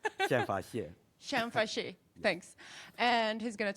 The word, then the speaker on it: Xianfa Xie: say it's not as you many people cannot pronounce my name Shan Shan fash thanks and he's going to talk about why